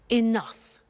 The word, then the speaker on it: enough: she doesn't have enough money now this word enough enough it's written e n o u G H the pronunciation is enough what does it mean let